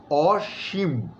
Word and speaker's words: অসীম: করছি তাহলে এটা হবে অসীম অসীম এবং ম এর মধ্যে একটা ছোট্ট ধাক্কা আছে অসীম হ্যাঁ তো মোটামুটি আমরা